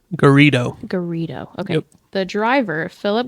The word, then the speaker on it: Garrido: Garrido.